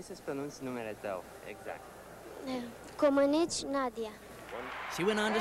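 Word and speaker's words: Comăneci: Komenich Nadia.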